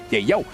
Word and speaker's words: Yayo: That is his actual name, and that is how it's going to be pronounced moving forward here in MSC. Yayo.